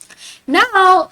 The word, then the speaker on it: noir: pronounce it as blond now um black in French we pronounce it as no so the r you got to pronounce it with your throat no repeat after me